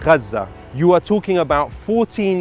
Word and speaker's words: Gaza: the children that were killed were already yes gaza is the is the actual pronunciation but like i mean it doesn't matter